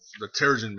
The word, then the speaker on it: Terrigen: So there you see them watching as the Terrigen Mist. So some people pronounce it Terran Mist, some people pronounce it Terrigen Mist. I kind of say it both ways.